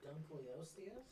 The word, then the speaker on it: Dunkleosteus: Dunkleosteus? Yeah, it's like Dunk Leo and then stewardess at the end. Like that. That's how it's pronounced.